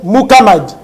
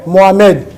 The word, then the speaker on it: Muhammad: C'est Muhammad. Faussement prononcé Mohamed.